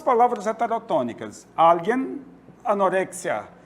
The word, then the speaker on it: alguien: Alguien, anorexia. Qual a sílaba tônica de alguien? Al.